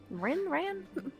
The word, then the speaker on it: Ren: ran like to they ran to shore like hell yeah like den but spelled with an R. Thank you like Ren. Yeah, Ren Ren.